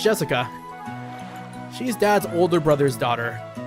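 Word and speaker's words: 朱志香: Anyways, blah blah blah is pronounced Jessica.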